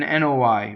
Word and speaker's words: noi: So VOI is OI. It doesn't rhyme with boy. It's VOI and NOI, right?